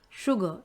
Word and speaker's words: sugar: one common thing that people also don't understand sugar s-u-j-a-r sugar okay that is sugar but if